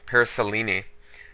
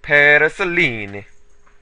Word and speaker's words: Paraselene: the paraselene or oh paraselene I remember the comment about it he said I have to say it like an Italian so parisel there was that right